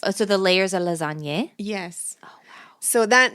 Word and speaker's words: lasagne: Lasagne, not lasagna. Lasagne is like more than one, though. Lasagne is a type of pasta that is composed of several layers. Oh, so the layers are lasagne?